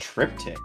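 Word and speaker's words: triptych: a try a trip a trep pronounced trip tick a trip tick of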